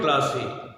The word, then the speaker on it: কাল: অবশ্য ইতিপূর্বে তোমাদের উচ্চারণের ক্লাসে যে কোন জায়গায় অ আসবে বলেছিলাম, যে বিশেষ্যের ক্ষেত্রে হস দিয়ে উচ্চারণ করতে হবে।